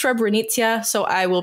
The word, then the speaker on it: Srebrenica: wanted to note that I have been pronouncing um the municipality wrong of celebrity I've been saying srabrenica it's actually it's rebrenicia so I will pronounce